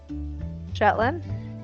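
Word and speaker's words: Shetland: Do you know you're the first American to actually pronounce that correctly? Sh Jetlin. Yeah. You're the first person to say it correctly.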